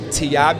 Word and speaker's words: TIABI: with my name um the tiabi is how you pronounce it and it actually stands